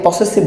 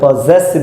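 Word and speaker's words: possessive: অনেকে পসেসিভ বলে, আমরা পসেসিভ উচ্চারণটা সঠিক নয়, আমরা পজেসিভ বলবো, তার মানে পজেসিভ। তাহলে আমাদের এই যে 3টা জিনিস আমরা কেস ভিত্তিতে আমরা একটু এখানে আলোচনা করব ইনশাআল্লাহ।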